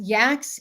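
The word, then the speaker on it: YACCS: Briefly, what Yax is. It's spelled Y-A-C-C-S. Y-A-C-C-S. Yax is a platform that's used for SEO purposes, and it creates cloud-based stacks.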